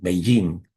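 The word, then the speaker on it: Beijing: Beijin no es una traducción, sino una transliteración que toma el sonido de cómo se pronuncia en China el nombre de esta capital y lo transmite fonéticamente para que nosotros lo escuchemos y lo expresemos de esa manera.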